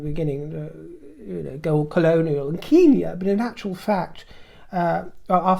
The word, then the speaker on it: Kenya: anybody interjects, that it's the colonial vogue is to call it, to pronounce it Kenya, which is fine. I'm not disputing that, but I take it as Kenya. Because in my earliest years, when I was 4 or 5, and one of my besties happened to be from Kenya, a Kenyan family, that's how they pronounced it, so it got into my psyche.